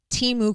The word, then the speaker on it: Temu: to be another, and I'm saying it wrong, but this is the way to say it, Temu Christmas.